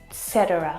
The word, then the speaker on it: etc.: Lots of native English speakers actually mess this up as well, and they'll pronounce etc. or etc. And it should be pronounced etc. etc. etc. إلى آخره etc. etc. It's a Latin word.